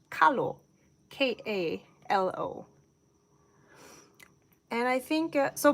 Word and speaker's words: kalo: So this is more widely known as the taro plant, T-A-R-O, but in Hawaiian, it's called kalo, K-A-L-O.